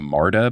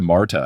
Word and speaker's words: MARTA: But then even on stage I talked about taking the public transit which is the martyr but spelled like the first name marta. So I said oh yeah I took the marta and then after the